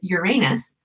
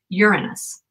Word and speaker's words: Uranus: so most people say Uranus but astronomers pronounce it Uranus so like urine and then us Uranus Uranus you can